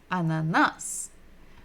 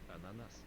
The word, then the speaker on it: Ананас: Ананас. Ah, the first sound is ah, and it is the first letter of the alphabet, and it's pretty much the same in all of the Latin languages.